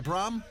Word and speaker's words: Braam: And Levi Braam, not Levi Brown, but Levi Braam, somewhat in the same area of pronunciation.